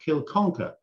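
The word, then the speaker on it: Kilconquhar: and it's it's called kanoka or some of the scots pronounce it kill conquer which is the way it's phonetically spelled and i mean there's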